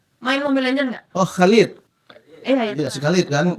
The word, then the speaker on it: Khalid: gimana bacanya? Khalid. Halid. Iya, Khalid. Dia pakai KH kan? Iya. Khalidnya kan? Iya. KH LEED. KHALEED. Iya, Khalid. Iya. Khalid kalau orang Arab bilang Khalid.